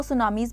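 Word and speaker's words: tsunami: Waves जो होती हैं और इनको सुनामीज़ भी कहा जाता है। ओके? अह टी इसमें साइलेंट होता है। सुनामी बोला जाता है।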